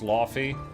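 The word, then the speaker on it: Laufey: It's pronounced Lafy. Okay, I'm going to call her Laffy now.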